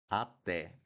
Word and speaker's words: até: And then we have até, até.